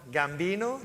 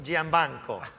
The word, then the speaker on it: Giambanco: And let me, Sal, don't call him Gambino, Giambanco. So I got him right.